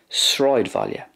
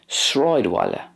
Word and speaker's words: Sráidbhaile: That's the way it's generally pronounced in Munster, Sráidbhaile. In Connacht then, Sráidbhaile, Sráidbhaile. So there's more of a W sound there for the BH. And in Ulster, Sráidbhaile, Sráidbhaile. Again, the a fada is not, it doesn't have as much of an aw sound in Ulster, it's more of an a sound.